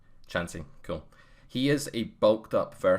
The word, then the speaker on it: Chansey: And welcome Chansey as well. I believe, am I pronouncing that right? The cat's Chansey. name? Chansey, cool.